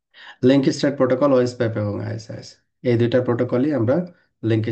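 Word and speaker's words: IS-IS: Intermediate system ইজ an older word for router, pronounced আইএসআইএস, এইভাবে pronounce করতে হয় আর কি।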